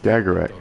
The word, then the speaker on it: Skagarat: And if Skagarat, that's how you say her name.